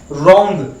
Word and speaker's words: wrong: रॉन्ग को आपने देखिए डब्ल्यू में क्या है, साइलेंट है, रॉन्ग।